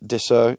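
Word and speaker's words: dessous: and the being the lower part the upper is spelled d e double s us desu and deso is d e s o u s so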